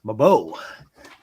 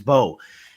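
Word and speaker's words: Mbow: But before I do, I just want to say, man, Marcus Mabo. This guy is I supposed think to it's be Marcus an Bow. early Mo. No, he's the M is silent. Okay, Marcus Bow.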